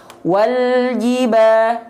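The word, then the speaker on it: وَالْجِبَا: Ya, ji direndahkan rahang bawahnya, ya, dan diangkat tengah lidahnya biar vokal i-nya sempurna.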